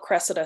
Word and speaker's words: Cressida: I was reading more into the book and Cressida. Is that how you pronounce her name?